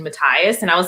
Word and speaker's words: Matthias: But because we don't get Wyland in the first book, the voice actor for him is the only one that pronounces the H in Matthias.